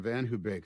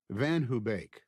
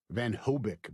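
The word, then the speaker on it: VanHoebeek: The first time Mave and I ever parked on Van Hubake Street, Van Hubake, mispronounced as Van Hobic by everyone in Elkins Park, was the first time I'd come home from Chot for spring break.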